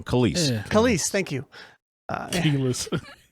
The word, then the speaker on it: Kelis: Kelis, thank you.